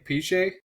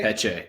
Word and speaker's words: Peche: Peche? Peche? Peche, Peche.